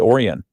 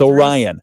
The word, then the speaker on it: Orion: Which when before I knew how to pronounce it when I was a kid, I always called it Oran because that's what it looks like. But it's Orion.